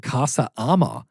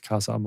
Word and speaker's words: Casa Amor: thought it was called Casa Armor. And I was if I had pronounced, if I was the one who said armor like that a knight would wear.